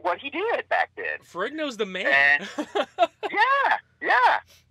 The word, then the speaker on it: Ferrigno: It was kind of weird because I wanted to talk to Lou I can't ever pronounce his last name, so forgive me. The original Incredible Hulk. Lou Ferrigno. Ferrigno, yep.